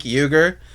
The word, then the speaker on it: Uygur: I always want to call him Sank, because that's how it's spelled. But it's Cenk. Yeah, I think that's okay, right. Yeah. Cenk Uygur.